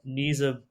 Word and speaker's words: Nisa: Nisa Buzletep. That's at least my initial understanding of the pronunciation. Nisa is her first name, so that's actually correct.